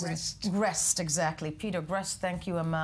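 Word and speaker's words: Greste: Canadian-Egyptian Mohammed Fahmy, Australian Peter how do I pronounce it? Grest, exactly.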